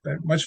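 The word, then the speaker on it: μ: Okay, this guy's pronounced mu.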